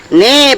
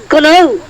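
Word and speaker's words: know: স্যার এটা লেখা আছে কে এন ও ডব্লিউ কনৌ। স্যার এটা কনৌ লেখা আছে। হ্যাঁ স্যার একদম ঠিক স্যার, এটা কনৌই হবে। স্যার ওটা লেখা আছে কে এন ও ডব্লিউ নো, এখানে কে এর উচ্চারণটা মুখে হবে না।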